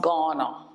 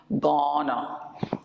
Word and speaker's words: Ghana: ghana okay it's pronounced ghana ghana so it's from ghana and the h is kind of silent so it's ghana so